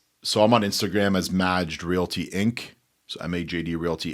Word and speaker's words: Majd: That's Majd. Majd, M-A-J-D. So you know, when you pronounce it, you sounded like one of my aunts.